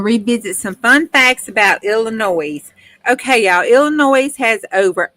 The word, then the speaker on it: Illinois: Debbie hey Elisa yes Illinois the S is silent but I don't know if I'm pronouncing that correctly or not but we just gonna say Illinois hi Alissa it is